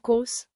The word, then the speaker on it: kos: Break it down. Wat like what. Plus kos like cost. Now Wat kos?